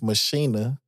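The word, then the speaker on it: Maschine: man shout out to how they say it overseas is Machina but over here we say machine right but man Native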